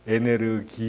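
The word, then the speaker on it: エネルギー: 어가 안 되는 것이죠 그 영어에 독일식 으로 발음 하기 때문에 에네르기 이라고 하는 것이구요 아 다만 일단은 일본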